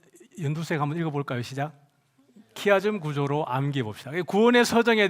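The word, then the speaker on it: χ: 구원의 서정에 대해서 여러분 이제 공부를 많이 하셨을 텐데 어이 키아 구조가 뭐냐 그러면은 그 하얀 글자로 제가 적어 놨는데 어 헬라어와 알파벳 어 영어로는 X 같지만 어 헬라어로는 발음이 키입니다. 키 그래서 X 형태로 이루어지는 그 구조를 키아줌 구조라 그래요.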